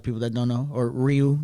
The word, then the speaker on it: Ryu: It means dragon for a lot of people that don't know, or Ryu. That's how they say it in Japanese.